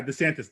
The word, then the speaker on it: DeSantis: i just think that florida i think just desantis how do you say that governor's name oh yeah desantis the governor there yeah i think he's he's